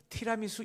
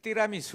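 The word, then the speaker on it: tiramisù: 나와요 여러분 띠라 이수하세요 이 발음이 이상하죠 티라미수 이게 오리지널 발음이에요 티라미수 이게 아니에요 띠라 이수 이래야 돼요 다 같이 따라해 보세요 띠라 이수 라미수 아이 발음 좋아요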